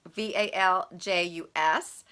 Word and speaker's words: valgus: I hope that's how you say it. It's VALJUS.